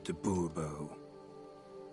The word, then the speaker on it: de Bobo: de Bobo fine Monsieur de Bobo the emphasis falls on the last syllable Boerboel mm-hmm see now